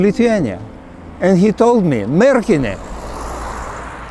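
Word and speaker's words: Merkinė: and he told me merkin putting an accent on the first syllable i told him marriage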